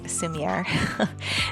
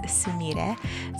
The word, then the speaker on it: Sumire: Now, I thought that was funny because I had always been pronouncing it as Sumire. So I just got a huge correction. It's Sumire.